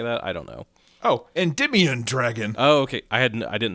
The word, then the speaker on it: Endymion: this lore dump from this Reddit user named Endyme Ion Dragon. I guess is how you say that. I don't know. Oh, Endymion Dragon.